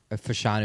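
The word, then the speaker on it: Fashanu: Uh Olu, Fanu is how you say his last name.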